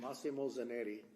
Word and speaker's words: Massimo Zanetti: My question is, with Massimo Zanetti, how you pronounce it? Massimo. Massimo Zanetti.